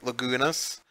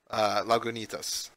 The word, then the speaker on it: Lagunitas: For me, it was the Lagunitas. Jeez. I even said it wrong. Lagunitas.